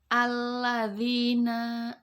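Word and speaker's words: الَّذِينَ: Alif lam bertemu dengan huruf lam. Alladzina.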